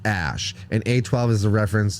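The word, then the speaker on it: Æ: ] dumb as A2 the a e symbol is pronounced Ash and a12 is a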